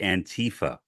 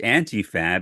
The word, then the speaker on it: Antifa: not even know how to pronounce it he pronounces it antifa which makes no sense it is antia because antifa is an acronym for anti fascism